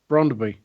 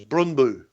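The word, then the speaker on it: Brøndby: Brondby. Yeah, well, see, that's not how it is in Danish. It's Brundby.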